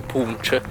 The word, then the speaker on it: punch: conosce ho scoperto che si scrive poco più lch che l'evo che si dovesse leggere pippo bonds o qualcosa del genere invece il barista mi ha spiegato che si dice proprio punch voi avete mai avuto